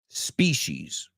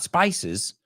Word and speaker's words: species: a pronunciar esa también, species, types of animals, species, not spices, spices, oregano, right? Species.